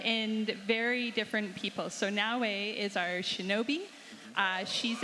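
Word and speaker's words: Naoe: so two protagonists this time out is it na am I pronouncing that correctly y now and Yas very different characters what can you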